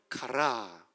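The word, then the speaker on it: χαρά: 이게 X가 아니고 CH 발음이고 이게 P가 아니고 R 발음이고요. 그래서 가라 액센트가 여기 있어요. 한번 해볼까요? 가라.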